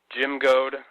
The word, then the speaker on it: Jim Goad: is Mark we've got a great guest today Jim go hey Jim how's it going oh fantastic you you pronounced my name correctly too you know in